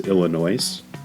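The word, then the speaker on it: Illinoise: his best album is Illinois uh that's a CO name uh yeah it's Illinois with an e at the end so it's meant to be noise as something some people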